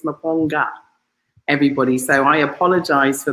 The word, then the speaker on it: Maponga: dyslexic and he put your name as mapongo it's maponga everybody so i apologize